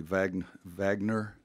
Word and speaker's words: Wagner: I think I'll pronounce it properly. Wagner, since he's German.